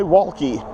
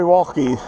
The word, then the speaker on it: Wallke: And so one of the One of the people said, try Wallke. They have a good quality bike. Okay. They said, try Wallke. So you spell that W-A-L-L-K-E.